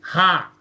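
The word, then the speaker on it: हाँ: Sí en hindi se dice ha, como ha. Hay un sonido de ha, sí en hindi.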